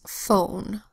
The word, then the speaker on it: phone: Our first word is phone, spelled P-H-O-N-E. PH says F, O says O, N says N, and we have a silent final E here.